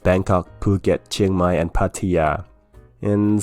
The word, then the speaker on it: Phuket: take a look ah it's phuket p s u is poo and k e t is get phuket not you know it when you see ish following kp and t in thai language it usually means those letters are aspirated in this case phuket